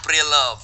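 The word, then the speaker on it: preloved: Iya, Kan itu pre-polet. menakutkan. Pre-love. Pre-love. Saya kan suka ngeliat di tag-tag Instagram orang, Pak. Iya. Tulisannya prepolet. Pre-love. Prelovet. Pre-love. Pre-love.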